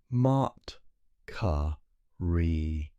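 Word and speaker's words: Maatkare: Mart ca re. Let us taste these syllables.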